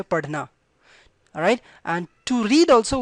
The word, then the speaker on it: पढ़ना: Alright, so it's not DH, perfect DH sound, but little R sound comes. Padhna, alright, so it's padhna. Alright, it's not padhna, it's not padhna.